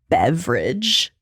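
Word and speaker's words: Beveridge: his last name is beverage like it's not spelled the same family name it's not spelled the same but that is absolutely how you pronounce it that's incredible junior junior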